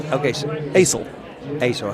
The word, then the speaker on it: Assel: Asel. How you spell it? How you spell it? ASSEL. Ace, like the ace of spades.